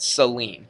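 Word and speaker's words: Céline: so um but anyway she spells her name c-e-l and it sounds like an S there doesn't it Celine so um write it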